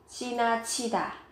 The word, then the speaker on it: 지나치다: Có hai từ chi nhưng các bạn chú ý ở cái từ này, các bạn phát âm với âm bật hơi 지나치다.